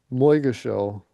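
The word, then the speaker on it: Moygashel: Moigashell. That's the way I've heard it pronounced.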